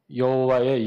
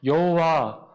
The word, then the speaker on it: 여호와: 이게 신명사문자라고 하는데, 이것이 모음을 어떻게 찍느냐에 따라 여호와 혹은 야훼 두 가지로 발음되어진다는 거예요.